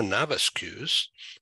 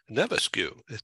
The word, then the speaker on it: Navascues: I'm Ed in San Diego, and in the Toronto, Ontario area is Monica Navascues. Did I pronounce that right? Navascues, really. No, it's it. I stand corrected.